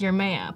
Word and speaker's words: Jeremiah: But it's spelled like Jeremiah, but pronounced Yermaya.